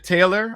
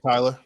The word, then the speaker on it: Tyler: say her name right aisha taylor or is it aisha taylor either way tyler i i should tyler thank you thank you